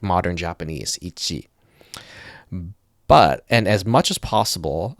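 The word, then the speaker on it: 一: This is pronounced ichi.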